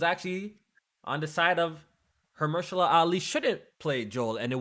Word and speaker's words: Mahershala Ali: the internet, it was rumored that how you pronounce the name? Mahershala Ali? Yes. Mahershala Ali.